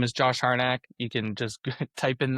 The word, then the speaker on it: Harnack: Uh my well my name is Josh Harack. You can just type in the Google the name, but my Instagram is Hack Art, spelled like it sounds, H A R N A C K.